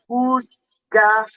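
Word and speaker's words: Uzcátegui: If you don't know how to pronounce, it sounds like Uzcategui.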